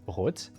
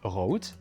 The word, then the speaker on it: rot: For example, the word red in German is pronounced as rot, and this is pretty much the same thing in Dutch where it's pronounced rot.